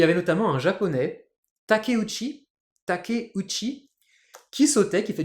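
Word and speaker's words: Takeuchi: années et il y avait notamment un Japonais takuchi takuchi qui sautait qui fait du SO à ski et là j'avais on avait Nelson Montfort ce bon vieux Nelson qui était là et oui c'est le japonais takosi et ben ouais ta t a K e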